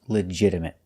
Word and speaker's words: legitimate: Our next word is legitimate. We notice that the T is pronounced with a fast D sound. Not legitimate, but legit. Legitimate. And a stop T at the end.